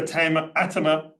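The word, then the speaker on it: Attema: So Peter Atema, to get the Flemish pronunciation, probably Dutch pronunciation correct, has been instrumental in pulling this together with other colleagues.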